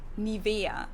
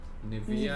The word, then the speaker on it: Nivea: In German, we say Nivea. Nivea. Nivea. So the emphasis is on the E.